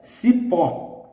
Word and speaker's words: cipó: The stress is in the last. Cipó, cipó. As it is an exception for the rule I gave you, must use the accent in the stressed syllable.